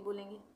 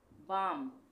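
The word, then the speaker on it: balm: Knowledge, knowledge में भी के साइलेंट है, का नॉलेज नहीं बोलेंगे। साइलेंट एल, साइलेंट एल वाले वर्ड्स हो गए। बाम, इसको हम बाल में नहीं पढ़ेंगे, बाम पढ़ेंगे।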